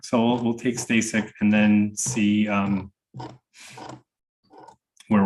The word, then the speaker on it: Stasik: for the record sir name is F stay sick last name is spelled s t a s i k Mr